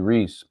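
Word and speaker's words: Rhys: Tell Michael it's Matthew Reese. It's spelled R-H-Y.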